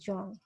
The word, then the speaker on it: Jean: तो ये जो जॉन पियाजे, इनका जो है, दो the term spells as JEAN, it pronounces as जॉन, जॉन पियाजे।